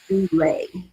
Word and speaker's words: doula: A doula, the term doula, should I say, is from the New Testament Holy Bible, from the Greek language, and it is pronounced doula, and it is classified as a female servant.